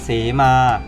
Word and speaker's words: สีมา: ครับ ที่ 2 ครับ สี มา อ่าน ว่า สีมา สี มา อ่าน ว่า